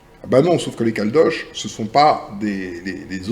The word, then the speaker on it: Caldoche: et je lui dis ça s'écrit C a l d o C H e comme Gavroche ou comme cloche parce que ça désigne